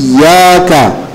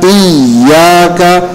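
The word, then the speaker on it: إياك: IUD itu pada tasdid di Iya hendaknya kita membacanya itu pertama dengan tasdid benar-benar dibaca dengan Ben dibaca dengan jelas jadi i iaka tidak dihilangin tasdidnya jadi iaka kebanyakan baca iyaka Enggak ada tasdidnya Jadi harus iyaka iyaka itu harus jelas karena kalau enggak ada tasdidnya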